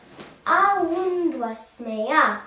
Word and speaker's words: Awūnd'waśmayyā: Awund'waśmayyā.